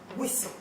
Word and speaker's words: whistle: Whistle. The H. The H is silent.